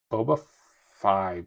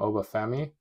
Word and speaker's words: Oba Femi: Oba Fi, pronounce it wrong every time. Oba Femi.